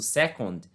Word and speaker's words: second: Que no caso é o first, primeiro, second, ó a pronúncia, second, apesar de ser escrito com O, ser escrito second, a pronúncia, né, se pronuncia second, beleza?